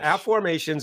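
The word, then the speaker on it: Afformations: Well, app formations is what I invented back in 1997.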